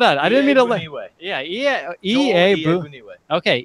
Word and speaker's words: Iyiegbuniwe: It is going to be pronounced Iyiegbuniwe. Okay, so hold on. I didn't mean to. Iyiegbuniwe. Okay, Iyiegbuniwe.